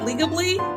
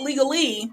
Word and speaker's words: Legably: about this business that you're running it's called legably which is correct really fun to pronounce lawyers like words and so I'm gonna spell it out l e g a l y right so not legal not legally legal ble and that's correct why did you